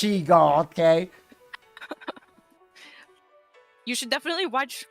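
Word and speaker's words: Shego: she come on it's sheo I never W now I have I didn't watch him possible a lot when I was a kid but even I know that the name is pronounced sheo okay you should definitely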